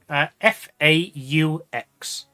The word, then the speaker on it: faux: Nobody in the country can decide whether it's pronounced fox or faux. Like there's a class divide. If you're in the upper class part of the country, you call it faux.